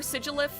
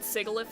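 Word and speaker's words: Sigilyph: 5 probably sigeleif although or sigilif I think that's probably how you're supposed to pronounce that I've been calling it sigalith all my life so I might just keep calling it that sigilif is uh it's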